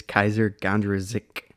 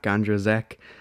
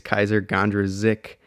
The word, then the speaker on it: Kysre Gondrezick: everyone i stand corrected it is kaiser gandra zik not gandrozek i know just personally